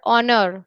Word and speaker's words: honor: is used before vowels the first letter of the word honor for example is a consonant so in spite of his spelling the word honor begins with a vowel sound you know sound cavity